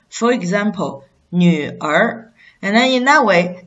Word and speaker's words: 女儿: But one thing is, if this is not a retroflex final, it's a syllable read as 儿. For example, 女儿.